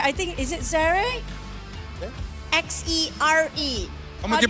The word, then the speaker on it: Xere: X-E-R-E. Como que pronuncia?